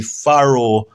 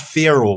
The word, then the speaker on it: Faroe: Um, and the autonomous region of the Faroe Island, not Pharaoh, but it may pronounce Pharaoh, Faroe.